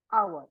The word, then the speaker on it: hour: the start that but that H is silent and we don't say